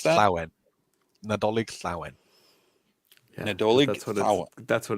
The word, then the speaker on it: Nadolig Llawen: Is one of you guys able to pronounce that? Nadolig Llawen.